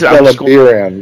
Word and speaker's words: Delimbiran: His question is about, was it Delimber, the city? Delimber. Delimbir. Delimbiran, I think it's supposed to be. The city is Delimbiran, yeah.